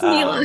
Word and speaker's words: Nila: Nyla. It's Nila.